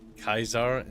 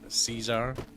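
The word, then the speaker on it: Caesar: He's like, why does the Legion pronounce their uh letter as Kaisar instead of Cesar? Because they're stupid. What? What? later. That's funny. You must enter Kaizar's tent alone.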